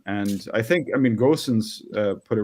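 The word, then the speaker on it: Gosens: uh that system and I think I mean goson's uh put it right it's okay if you pronounce it goosen's it's fine it's fine uh the grossens is the the German pronunciation um he in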